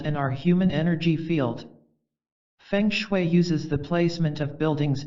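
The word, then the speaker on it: feng shui: art of Designing and creating a harmonious environment fangue pronounced fun is based on the belief that energy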